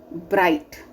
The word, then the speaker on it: bright: here h is silent second is what bright so g is silent then dark so r